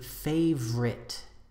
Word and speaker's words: favorite: ends in R so we usually say favorite instead of favorite the adjective separate two